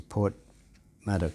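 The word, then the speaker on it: Porthmadog: seeing my auntie in Port madok yeah it is it's almost a bit like Port Mad Dog iPhone do you remember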